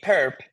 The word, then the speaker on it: perp: So what is going to be the perp? That's how you say it, the perp. So what is the orthogonal complement? Well, this consists, by definition, you pronounce this as the perp.